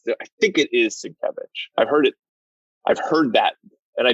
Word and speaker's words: Sienkiewicz: But then I've heard other people pronounce it. I think it is Sienkiewicz.